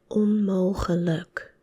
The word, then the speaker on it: onmogelijk: So it's pronounced as onmogelijk, onmogelijk.